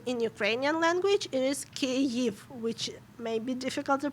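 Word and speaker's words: Kyiv: that's how you name ukrainian capital in russian kiev but if you are if you're talk if you're speaking in ukrainian language it is kev which may be difficult to pronounce i get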